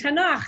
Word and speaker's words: Tanakh: so that is how and tanakh is how we pronounce it with uh so tanakh